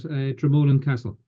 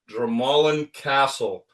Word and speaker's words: Dromoland: So, I'm lucky enough to be the director of golf here at Dramolan Castle. Dramallan Castle.